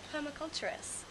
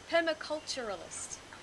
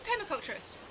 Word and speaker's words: permaculturist: So you're a permaculturist. Permaculturalist. Is that how you say it? Yeah, permaculturist. Permaculturist. Yeah.